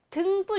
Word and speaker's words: 등불: 그런데 발음이 어떻게 되냐면 등불 이렇게 돼요. 등불.